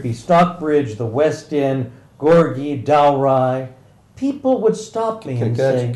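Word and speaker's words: Gorgie: aive whether it be Stockbridge the West in gorgi doai people would St St can I can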